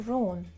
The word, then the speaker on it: wrong: For instance, you got 3 answers right and 2 wrong. By the way, the word wrong, you don't pronounce letter W as well.